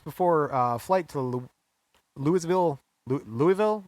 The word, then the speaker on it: Louisville: uh flight to louisville louisville i believe they pronounce it louisville kentucky yeah louisville he is